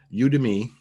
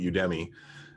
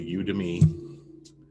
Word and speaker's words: Udemy: thing if you want to learn so uh you to me is this one i actually had to look that up i've been pronouncing it wrong all these years i've been calling it udemy but i looked up how to pronounce it